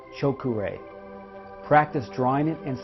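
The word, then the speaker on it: Cho Ku Rei: silly power increased symbol it is pronounced choke array practice drawing it and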